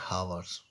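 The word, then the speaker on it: hour: ठीक, अब यहाँ कह रहे हैं यदि कोई वर्ड एच से शुरू होता है और एच के बाद वोवेल का प्रयोग हुआ है लेकिन एच का उच्चारण साइलेंट होता है तो उस वर्ड से पूर्व ए का प्रयोग ना करके एन का प्रयोग किया जाता है। ठीक है, ओके, जैसे N honest, N हावर्स, N hair.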